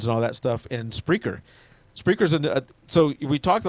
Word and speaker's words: Spreaker: a place called spreaker you know i'm not pronouncing that incorrectly it's spreaker or whatever it sounds yeah and that is